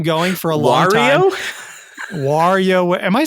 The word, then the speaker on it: Wario: Wario? Am I saying it wrong? Wario? You're saying Wario. Is it Wario? Yeah, Wario, dude. Like Mario.